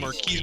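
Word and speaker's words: Marques: Marquez. MKB. Marquise Brownlee?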